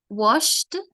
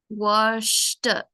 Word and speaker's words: washed: play you know watched washed so you have to really finish D very strong on the last letter and imagine the e is silent washed number 10 I